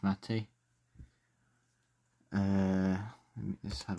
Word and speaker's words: MATE: And the final one is mate or matey. I think it I think it's pronounced matey.